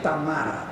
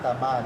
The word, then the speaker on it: Tamara: Hay que decir Tamara. Tamara. Porque es ruso. Es Rusia. Así se pronuncia.